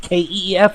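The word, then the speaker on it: Keefe: brother keith is it keith kef or keith but keith it is k-e-e-f-e oh good oh the e silent that's how all the cool people are saying yes my friend it is a silent e it is the name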